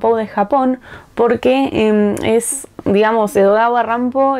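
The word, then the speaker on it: Edogawa Rampo: Japón porque es digamos edod rampo es la pronunciación en japonés de Edgar lampou no Entonces es un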